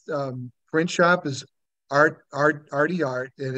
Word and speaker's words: RT Art: print shop is Art Arty art and it's spelled RT it's RT like the letter R the letter T and then art okay and their their website